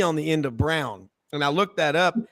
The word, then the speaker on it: Browne: But over here, what I get a lot of, Mr. Brownie, I'm like, no, the E is silent. And they go, Mr. Silent E. No, it's Browne with an E.